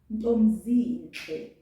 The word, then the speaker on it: Ntombizinhle: However, pronounced, you will hardly hear people say that B. So it will sound like this. Ntomzinhle, ntomzinhle.